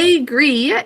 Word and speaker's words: agree: A is in an open syllable, but it's in an unstressed syllable, saying an sound. Agree. E-double-E always says E.